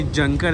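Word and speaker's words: Jonker: सो ये जंकर है, इसमें जे साइलेंट है।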